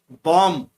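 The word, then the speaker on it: bomb: Fifth में बॉम्ब, बॉम्ब में जो पीछे वाला बी है उसको अंडरलाइन किया है, वो साइलेंट रहता है।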